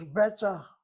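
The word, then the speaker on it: בטח: Oh, it's beta. Beta? Beta is one syllable. Well, that's beta is two syllables, but it's done fast.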